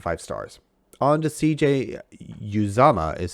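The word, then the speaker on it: Uzomah: three points and five stars on to cj uzama is how you pronounce it from his mouth literally uh really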